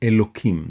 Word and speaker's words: Elokim: utterances use the name elokim this name this word is written with an H but I pronounced it with a K as is the custom the name literally means